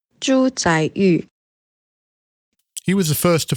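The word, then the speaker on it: 朱载堉: by the name of, let me just phone a friend for the correct pronunciation. Zhu Zaiyu.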